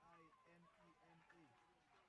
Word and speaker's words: Limema: How do you pronounce that? Lemina? Lemina? Limema. Limema, yeah. M-E, it's me. It's L-I-M-E-M-A.